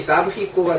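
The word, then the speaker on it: les abricots: 근데 봐봐, 왜 여기 사브리코가 됐냐면 X가 그렇게 KS지만 어쩔 때 K를 빼고 모음과 모음 사이에 있으면 S 발음이 Z 발음이 된댔잖아. 그래서 연음이 돼서 딱 사브리코.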